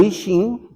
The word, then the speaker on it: I Ching: ¿Por qué es el I Ching o I Ching, como lo pronunciamos en México, y junto pongo Ji Yin?